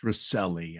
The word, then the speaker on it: Recile: Army Major retired Rudy Recile, Recile is pronounced Recile.